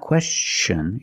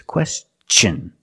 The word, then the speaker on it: question: When T-I-O-N is after an S, then it's pronounced differently.